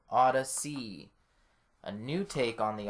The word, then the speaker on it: Ody'C: It's spelled Awesome. ODY''C. So Ody'C.